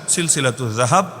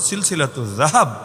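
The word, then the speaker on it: سلسلة الذهب: আমি শুনিয়ে দিচ্ছি, বইয়ের নামের অংশ হিসাবেই লেখা আছে সিলসিলাতুজ জাহাব। আপনার মতো বা জাহাব না, সিলসিলাতুজ জাহাব না, এটা তো উচ্চারণটাও শুদ্ধ করে করা যায়, সিলসিলাতুজ জাহাব ফিমা রাওয়াহুল ইমাম আশ-শাফিঈ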